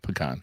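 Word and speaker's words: pecan: do you say pean how do you say pean tree peon man peon that's different peon peon it's pan that's how you say it was it who who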